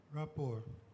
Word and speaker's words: rapport: your word is rapport rapport r-e-p-p-o-r-t that is correct another French word the T at the end there is silent let's go back to